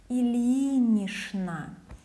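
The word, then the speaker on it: Ильинична: But this ch will be pronounced as sh, Ilinishna.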